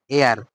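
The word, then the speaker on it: heir: আর এখানে এটা কিন্তু হেয়ার না, এটা কি? এয়ার। এটা উচ্চারণ কি হবে? এয়ার হবে। এটার উচ্চারণ হবে হচ্ছে এয়ার।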